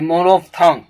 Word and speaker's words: monophthong: Next word है मोनोफ्थोंग, MONOPHTHONG, मोनोफ्थोंग। यहाँ आप देखते हैं कि PHTH के बीच में कोई भी वॉवेल साउंड नहीं है।